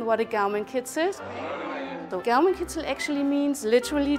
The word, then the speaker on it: Gaumenkitzel: All right, so how's my Gaumenkitzel? Is that? Your pronunciation is excellent.